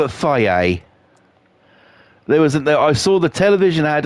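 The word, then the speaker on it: Fage: So, why is there a yogurt that people call Faye and it's spelt fudge? I'm deadly serious. There's a fucking yogurt called Faye, right? That's how they're pronouncing it, Faye, right?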